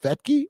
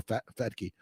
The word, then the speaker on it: Fetke: And I must have been spelling it wrong, but it is pronounced Fetke or Fetke.